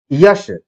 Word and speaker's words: यश: कई बार हम लोग बोलते हैं यश को हम क्या बोल देते हैं? जश बोल देते हैं।